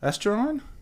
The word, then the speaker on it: estuarine: Estuarine?